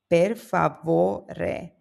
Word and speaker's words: per favore: The stress falls on vo, per favore.